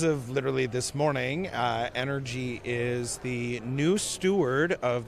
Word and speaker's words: ENRG: It official pronunciation just live for the vision spark podcast listeners. It is energy.